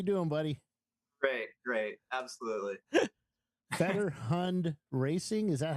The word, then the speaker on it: Fetterhund: Sean how you doing buddy great great absolutely better hund racing is that how you pronounce it uh Federal hooned yes because I was talking to uh Frank